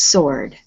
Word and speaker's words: sword: word here is sword we don't pronounce the w in this word it's just sword it's good all right